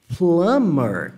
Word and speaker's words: plumber: A pronúncia dela é plumber, como se não existisse esse B. Se eu fosse resumir a pronúncia dessa palavra, eu ia colocar assim, ó, plumber, a pronúncia dessa palavra. Plumber, como se esse B não existisse.